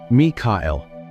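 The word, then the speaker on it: מיכאל: It is found in the 4 ancient Hebrew syllables of his name, Mikael.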